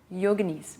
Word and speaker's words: yogini: I learned recently that the proper way to say yogini is yoga nice yogini yoga so thank